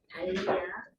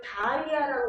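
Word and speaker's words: Dahlia: 달리아 DAHL까지가 달이에요. 달. 여기가 마이클 달이라고 하는 사람 이름이거든요. 그래서 이거를 다리아라고 읽으시면 비누회사랑 저는 절대 개탄다고밖에는 달리 할 말이 없습니다. 이거를 달이라는 사람이 때문에 생긴 이름인데 이걸 자꾸 다리아라고 하시면 제가 정말 곤란해요.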